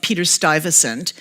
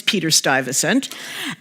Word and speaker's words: Peter Stuyvesant: by the name of Peter Stuyvesant I'm sure that's not how it's pronounced in Dutch but that's how we pronounce it in New York we have Stuyvesant play